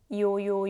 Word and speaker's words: 요: or 우 push your list forward and make the opening smaller and remember is e + 요요 요요요 and u is e